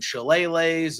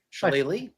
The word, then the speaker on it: shillelagh: This was as good as the other ones, but it had weaponry and there were tables and whiskey barrels and shillelaghs and all sorts of things.